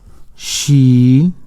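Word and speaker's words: ش: Sin, sheen. Okay, sin. Sheen has 3 dots in the top and Seen has no dots. So Seen it's like S and Sheen's like SH in English.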